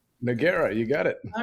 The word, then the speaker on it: Nogueira: That's how you pronounce it, right? Nora. Noera.